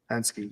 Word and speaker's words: Hensuki: Oh yeah, and what's Hensuki, it called? yes. Hensuki, yeah, that's how you say it, dude.